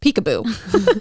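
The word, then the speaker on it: Picabo: first name in there it's spelled p-i-c-a-b-o i know oh i know but like pronounced peek-a-boo street like we were watching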